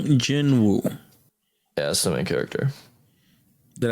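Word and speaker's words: Jin-Woo: later that's just a waste of time s Jin Wu yeah that's the character did I mispronounce that name no no okay that's pretty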